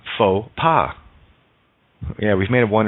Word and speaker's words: faux pas: o does the work X is silent in faux pas yeah we've made a